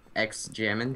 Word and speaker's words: X Jammin: We killed a dragon with X Jammin. The X is silent, of course.